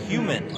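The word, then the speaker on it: Huhman: 2 shots here coming up for Quentin Human. Spelling not the same as the you think. It's H-U-H-M-A-N. So there's an extra H, but it is pronounced Human.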